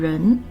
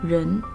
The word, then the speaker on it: 仁: We can add the character 二 to form 仁, which means love, humane, or humanity. It is pronounced exactly the same as 人.